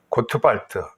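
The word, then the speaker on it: Gottwald: 이걸 이해하려고 그러면 그 신학자 가운데 노만 갓월드라고 하는 고트발트, 독일어서 발음한 고트발트인데, 이 신학자가 설명한 것을 들어줄 필요가 있어요.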